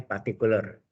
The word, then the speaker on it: partikular: nama lainnya solusi partikuler tulusannya partikular ya ular bacanya partikuler Oke sampai sini ada